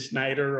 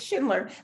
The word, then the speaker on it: Schindler: i think i think i might have said schneider or yes it's schindler but you won't be